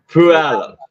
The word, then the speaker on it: Puyallup: I'll go with pull you up. Oh, he was very close. Puyallup. Puyallup.